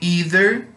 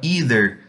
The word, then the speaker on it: either: Um parêntese em relação a essa palavra either. Você pode encontrar essa palavra em duas pronúncias, either e either. Os americanos falam either e os britânicos falam either, ok?